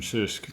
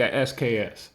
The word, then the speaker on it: SKS: is people, they say a SKS, an SKS, and I'm like, do you call your dog a DOG? I mean, seriously. I mean, if you pronounce it, it's Sisk.